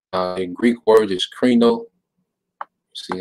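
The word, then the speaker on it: κρίνω: karino all right uh in greek word is krino see how you pronounce it strong's g 2919 krino reno all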